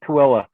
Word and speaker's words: Tooele: It's like Tooele. We know how to, Tooele, Thule, whatever.